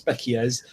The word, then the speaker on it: species: It's spelt species, but it's pronounced species, and like your eyes perceive them, but that lets you see.